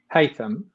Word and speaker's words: Haitham: Like you said, I am my first name pronounced Haitham, Haitham Hussain.